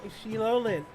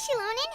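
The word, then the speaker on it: Xilonen: things have been going sheilan oh no I can't that's that's terrible I shouldn't have problems speaking o hey shilon how's everything going that's how you say her name oh hi traveler and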